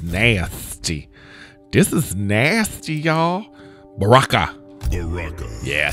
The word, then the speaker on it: Baraka: Baraka.